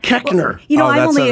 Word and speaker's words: Koechner: You'd think that they would remember how to pronounce Koechner. Oh, yeah. Koechner. It should be Koechner, of course. You look at it. Yeah, but it's not. Koechner.